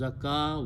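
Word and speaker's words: زكاة: make something very excellent the noun is made by pronouncing it as zakah wow is not pronounced is the noun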